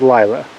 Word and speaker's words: Lyla: So this white ewe right here is Lyla. Well, that's how we pronounce her name, and she's genetically quite distinct from everything else we have in our flock.